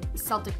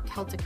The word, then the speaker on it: Celtic: them which this is the Celtic knot or Celtic knot I've heard it pronounced and you can do